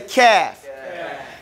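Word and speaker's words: قاف: This is how you pronounce, this is just how the movements that you're going to go through to pronounce the letter KAAF. Everybody say KAAF.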